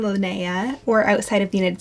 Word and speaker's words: Linnea: for a comeback the first is the name Linnea or outside of the United States you might hear this from pronounced more like Linea and this is the floral name it's actually